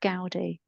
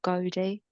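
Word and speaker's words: Gowdie: I am trying to improve my speech, but it's Isabelle Gaudy or Godi. I think it's Gaudy. Isabelle. Yeah. So, it's G O W D I E. Isabel Gaudy.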